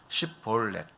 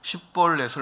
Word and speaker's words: 십볼렛: 십볼렛인데 십자를 발음 못하는 겁니다.